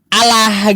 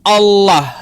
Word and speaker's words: Allah: Tapi cara bacanya salah, Allah gitu. H seharusnya kan kalau kita mengambil dari kosakata Arab, maka kita harus membacanya sesuai dengan tata kaidah bahasa Arabnya yaitu Allah gitu tebal dia ada tafkhimnya. Ah gitu.